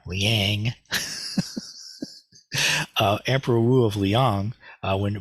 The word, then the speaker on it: Liang: And so when Bodhidharma met Emperor Wu of Liang, or Liang, sorry, my Indiana accent kicked in there, Liang.